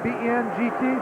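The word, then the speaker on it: Bengt: go there he is ben gustafson i think that's how you pronounce that name b-e-n-g-t ben yep and it's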